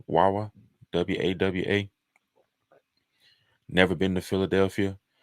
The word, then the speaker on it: Wawa: of people entered a Wawa I'm guessing I'm pronouncing it correctly Wawa w-a-w-a never been to Philadelphia and from seeing